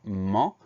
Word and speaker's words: ment: Donc ment, M-E-N-T, le son en C-E-N, le T muet à la fin.